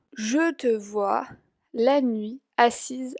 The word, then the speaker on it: assise: Entonces ven que cuando hay doble S se pronuncia S. Cuando solo hay una se pronuncia Z.